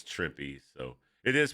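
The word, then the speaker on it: Trimpe: right here you see herb tripy just says tripy so it is pronounced tripy by the way I always I I always said it was as a kid I pronounced it trimp I didn't know better but yeah it is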